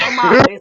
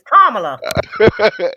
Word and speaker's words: Kamala: woman name is not no damn Kamala. It's Kamala. Kamala. Kamala. Kamala. Kamala. Kamala. Kamala. Kamala.